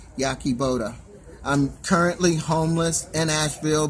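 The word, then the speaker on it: Yahe Boda: Once again, my name is spelled Y-A-H-E. Last name is spelled B-O-D-A. Yaki Boda.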